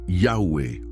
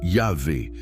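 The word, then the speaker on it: Yahweh: Si Jéhovah n'est pas la vraie prononciation, quelle était-elle alors ? spécialistes modernes proposent plusieurs hypothèses. La plus acceptée aujourd'hui est Yahweé ou Yahé, basé sur des analyses linguistiques complexes et sur quelques rares témoignages antiques.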